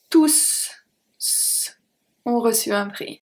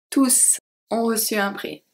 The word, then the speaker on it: tous: are going to have tous ont reçu un prix. Tous ont reçu un prix. Here we pronounce the S. This is the only time when we are going to pronounce the S at tous.